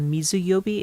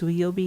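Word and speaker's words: 水曜日: So the sui um as part of the sui yobi it's that water kanji takes on a different pronunciation. So if instead of mizuyobi it's suyobi instead or like a real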